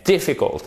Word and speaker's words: difficult: ce n'est pas difficile mais dit fico accent tonique sur la première syllabe et pour nous francophones c'est pas forcément intuitif aucun saut à vous